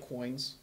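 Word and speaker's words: quoins: of buildings and Chad they're saying is pronounced like coins coins yeah I think now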